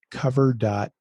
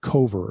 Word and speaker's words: Kover: You guys have recently been involved with a partnership with Kover.ai I use to call them cover and then I found out I was pronouncing that wrong.